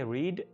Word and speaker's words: read: इसके बारे में आपने याद रखना है कि read, read, read स्पेलिंग तीनों का सेम है, लेकिन इसको हम read बोलेंगे यानी पहली फॉर्म को, दूसरी और तीसरी फॉर्म को हम read बोलेंगे।